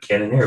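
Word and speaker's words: Cannonier: his lesson truck canon neon canon here yep canon here ooh got that right main event who do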